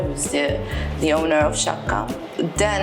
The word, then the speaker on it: Sciacca: or Chaka or I don't know exactly it's pronounced Shaka girl um and the concept is really simple